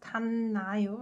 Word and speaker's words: 닿나요: It's pronounced 닿나요, right?